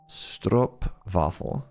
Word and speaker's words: Stroopwafel: I also need to pronounce the W like a V. Stroopwafel.